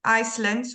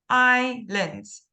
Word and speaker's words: islands: said Islands Islands okay so we don't pronounce the S we don't say icelands we say I lens I lens okay so